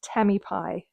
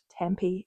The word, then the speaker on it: Tamipie: So my thank you from that video was intended to go to Maya_DN and Tammy Pie, not Tampy as I mispronounced it last time.